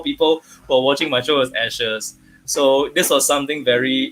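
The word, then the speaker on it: æ: so surprised that this a II was actually pronounced as ash okay it's the capital in a capita kind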